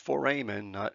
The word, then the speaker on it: foramen: guys and then foramen this pronounced foramen like Foreman okay these are small